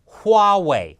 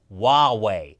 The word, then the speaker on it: Huawei: It's Huawei with an H, people. It's not Huawei.